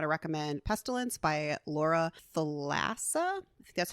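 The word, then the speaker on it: Thalassa: but I'm going to recommend pestilence by Laura thassa that's how you pronounce her last name it is a significantly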